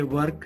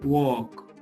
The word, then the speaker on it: work: WORK, वर्क नहीं है, वॉक, वॉक। I have an important वर्क इन my office. तो वर्क, वॉक में difference है।